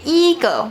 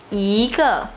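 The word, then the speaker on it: 一个: We won't say 一个, we say 一个.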